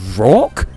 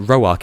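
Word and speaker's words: Roark: leader of generation 4, his name is pronounced rock, but that's not even a name. I didn't know that rock was a name. I always pronounced it roak in my head and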